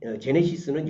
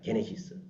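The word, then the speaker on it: γένεσις: 흥미로운 것은요.이 제네시스 그러니까 헬라어로 보면 제네시스가 이건 제네 제네시스는 영어 발음이고 헬라어 단어는에 게네시스입니다. 게네시스.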